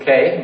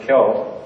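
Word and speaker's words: 京: This is K, but we can also pronounce it Kyo. So Tokyo, Kyo, same character.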